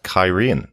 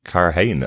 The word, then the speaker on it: Cairhien: And the city called Cairhien, not Carhane, as we've all been calling it I think, decades in the case of Chris, right?